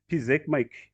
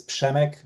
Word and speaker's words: Przemek: Pizekmike Kateki from Europe. If you could briefly give us your brief your background? Absolutely, Oliver. Thank you so much. So you're very close. It's Przemek.